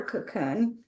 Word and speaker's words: Kaqun: And that we'll spell that for our audience because it's not like a regular cocoon.